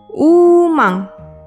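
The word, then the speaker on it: ウーマン: Ditulis dengan huruf katakana jadi u, strip, ma, n, umang.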